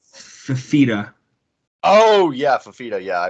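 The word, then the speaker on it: Fifita: No, it's like Fafita.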